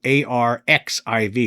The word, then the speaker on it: arXiv: And it says here that the Disclosure Foundation has sent a formal letter to the executive director of arXiv, which is spelled a r x i v, but it's pronounced arXiv, regarding the rejection of two recent submissions from astronomer Dr.